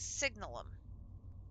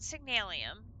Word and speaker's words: Signalum: It's signalum, not signalium. Signalum. And where before we needed one gear, now we need two. I I know, right? It's I don't know. I have I have pronounced it that way forever. And then one day I looked at that word and I'm like there's no I in that word.